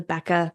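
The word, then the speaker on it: Bekaa: main wine growing region in Lebanon is the Becca Valley it's spelled be K Ka a this produces 90%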